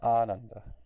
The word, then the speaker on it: ānanda: So there's a big difference between Ananda and Ananda. Right? Ananda means joyless. Ananda, on the other hand, means pure bliss. So that one little extra meter of rhythm in the beginning there, the A versus it turns joyless into blissness. That one little swara makes that big of a difference.